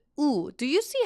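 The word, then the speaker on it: ㅜ: And oftentimes, it's not G, it's U. Do you see how I even put like a little stick? That's a long U sound, so you'll have to pronounce it like Uber. You know, Uber. U.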